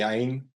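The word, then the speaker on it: عين: It's a tricky one, but it's actually quite easy. Like it's you know, if you like trying to brush your teeth and then you put some water in your mouth and do like and then spit it out. Like you have some water here in the back, but you don't let it slide in, like gurgling a little bit. That's almost the same.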